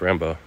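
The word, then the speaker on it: Rimbaud: rimod right in English but what it's actually pronounced Rambo so like and and Stallone wrote Rocky like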